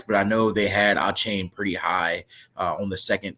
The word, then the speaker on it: Achane: A chain? Is that how it's pronounced? Is it a chain or is it a Caney? It's Devon Achane. Achane? Devon Achane.